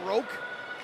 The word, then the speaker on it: Roke: And now Roke, which rhymes with Coke, plays that up ahead for Mashinter.